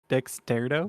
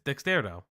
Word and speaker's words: Dextero: making fun of voui pronouncing it wrong Dextero it's Dextero Dextero it's not Dexter Dextero just read read streamer